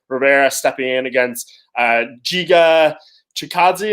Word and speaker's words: Chikadze: Yourself and Nolan King of MMA Junkie report Irwin Rivera stepping in against Giga Chikadze. Am I pronouncing his last name right? I'm not. Giga Chikadze. There you go. Well done.